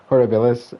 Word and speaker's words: horribilis: Grizzly bear, Ursus arctos, horribilis, or horribilis, because you probably have to pronounce the I on this one.